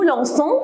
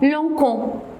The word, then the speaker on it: lançons: Pour le verbe lancer, je lance, mais on dit nous lançons avec CCD avant le ONS. Pourquoi? Parce que si je ne mets pas le CD, on va la prononcer comment? Lancon. Alors c'est faux, il faut mettre le CD.